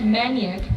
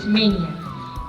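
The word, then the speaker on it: mania: द डे इज मेनिया people pronounce it एस मेनिक बट it's pronunciation इ मेनिया मींस a person एक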